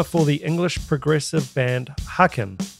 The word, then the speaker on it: Haken: the english progressive band haaken pronounced haken you're so dumb you